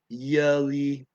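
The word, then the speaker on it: jullie: I mean, the yeah, and they got the yeah, yelly, yelly. The first syllable, yeah, you, yelly, yelly.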